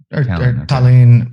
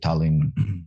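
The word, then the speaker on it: Tallinn: whatever it's it's uh like everyone kind of pronounce it differently like if it's if you're saying it in russian it's like talon and estonians kind of say talin because they the double uh consonants they actually hold on there a little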